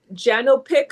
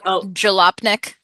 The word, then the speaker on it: Jalopnik: person in Canada, More Than Bikes, that website, Janopic, I think I'm saying it right, Janopic, another, Jalopnik.